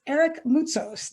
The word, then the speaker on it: Eric Moutsos: It's Eric Moutsos. Did I pronounce that correctly, Eric?